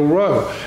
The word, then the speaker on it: Rho: It's not really a P, it's pronounced R in Greek, is the Rho.